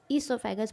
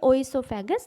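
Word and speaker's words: oesophagus: ओ से स्टार्ट होती है इसकी स्पेलिंग, बट ईसोफेगस बोलेंगे, ओइसोफेगस नहीं बोलेंगे।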